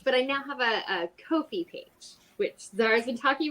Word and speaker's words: Ko-fi: Ko-fi. It rhymes with no fee.